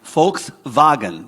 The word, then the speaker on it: Volkswagen: what VW stands for Volkswagen right do you know what Volkswagen means in German the people's car right folks vagen that's how they say it okay over here what